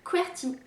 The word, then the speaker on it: Qwertee: dans le titre mais ça s'écrit qu w le rt eux donc pas comme converti avec un y comme quoi si azerty pour les claviers alors cet incident où